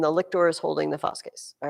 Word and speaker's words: fasces: I'm sure you probably say fasces or something like that in English, but fasces would be classical pronunciation Latin.